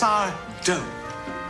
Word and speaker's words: Sardo: It's Sardo. No, mister. Accent on the T. Let's get it right because he will correct you every single time. That's Sardo, no mister, accent on the dough.